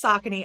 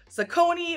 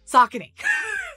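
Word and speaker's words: Saucony: for these are socony and yeah it is pronounced sakon I thought it was zakone or Sony or a bunch of other things but it's oh gosh now I forgotten it socony that's how you say it somebody's still going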